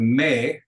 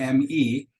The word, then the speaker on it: mi: to make sure that the Mei the me is in English in Spanish pronounced me that's short e e m i which means my it's pronounced me it's actually a very